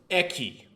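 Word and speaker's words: 駅: corner messing around this is station and it's pronounced eki if you want to know how it's pronounced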